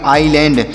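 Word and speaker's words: island: डॉ, तो से पढ़ेंगे आईलैंड। यहाँ पर यस साइलेंट है, मतलब इस यस का उच्चारण यहाँ पर नहीं किया जाएगा, इसे पढ़ेंगे आईलैंड।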